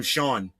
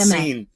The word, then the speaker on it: Sean: We're going to name him the actual pronunciation of his name, not seen.